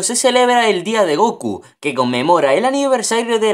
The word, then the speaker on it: Goku: celebra el Día de Goku que conmemora el aniversario de la emisión del primer episodio de Dragon Ball en 198 la fecha 5 del 9 se pronuncia Goku en japonés la apariencia y diseño